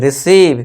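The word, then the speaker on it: receive: बड़ी ई की मात्रा हमने लिख दिया ये देखिए आ गया यहां पे सी और व है यानी कि वी तो इसके लिए व और ये हो गया क्या र ई सी व इस तरह आपको पढ़ना है फिर जोड़ के फिर एकदम से आपको बोलना है रिसीव ठीक है दोस्तों फिर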